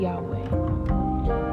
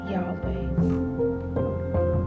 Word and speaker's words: Yahweh: It's spelled WHYHWH, Yahweh. And we pronounce it as Yahweh. But if you go deeper, it's really the sound of breathing.